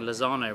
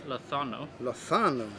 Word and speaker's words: Lozano: messages saying that uh we've been pronouncing lozano wrong oh have we the zed is a th is it oh okay so we should be pronouncing it as lothano and uh he also